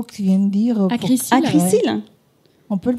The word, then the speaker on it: Acrysyl: Acrisil. Ouais. On peut le prononcer.